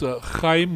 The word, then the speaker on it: Heim: to pronounce the name it's Heim with the sort of rolling in the back of your throat but I'm sure you're